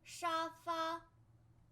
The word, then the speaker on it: 沙发: 沙发. 沙发. 沙发. And this pronunciation is directly borrowed from English.